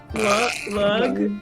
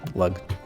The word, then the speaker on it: Lug: Lug? Like L-E-G, Lug. like rhymes with jug.